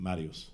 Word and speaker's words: Mariusz: Mariusz.